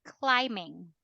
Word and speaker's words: climbing: ing form it becomes climbing if it's an ing form already the B is not pronounced climb all right climb base form all right in ing form we say climbing Roy okay all right